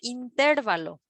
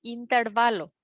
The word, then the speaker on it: intervalo: es la app porque no se dice intervalo la forma correcta es intervalo aunque suene más feo no existe intervalo es intervalo tampoco es la vez